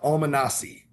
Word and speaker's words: Almonaci: And I'm not sure how to pronounce his last name. Your quarterback. Yep, Alejandro Villa Almanasi.